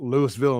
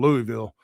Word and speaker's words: Louisville: There was a wrestler from Louisville, Mississippi, but I don't know how to say Louisville. That ain't how I say. I say Right. Louisville. No, other way around. I say Louisville because Louisville, Kentucky. Right. And I kept introducing him from Louisville, and he's like, "It's Louisville." I'm like, "It's French. It's Louisville."